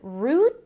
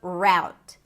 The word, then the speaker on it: route: Is it root or route? Root or route. The first one is an R sound. than the tense oo root with a hel t at the end or route route as in now. So again, if you hear it both ways, probably both are legit and both can be used.